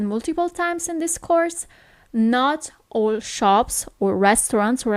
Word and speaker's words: no: No is no. Okay, so you actually write it as in English, but the pronunciation is a little bit different. It's not no, but it's no.